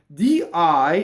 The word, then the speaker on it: di: Di is of, in this case, it is a weak monosyllable, okay? As opposed to the old-fashioned way to say day, di with an accent. Now that word will cause a phrasal doubling.